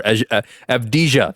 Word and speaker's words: Avdija: I can't pronounce his name ever. Avdija.